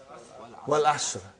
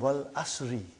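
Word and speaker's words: والعصر: What is the first ayah? Wal Asr. Have you ever noted down what is written there? It's called Wal Asri.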